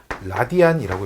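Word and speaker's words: radian: 단위는 RAD라고 이렇게 쓰는데 라디안이라고 읽어요.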